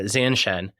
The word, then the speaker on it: zanshin: I was really interested in this concept of and I don't know if I'm going to say it right, Zanshen. Yeah, Zanshen.